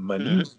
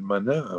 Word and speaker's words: Manin: C'est un nom typique de la Vénétie, comme Manine. On appelle Manin en France, mais c'est Manine.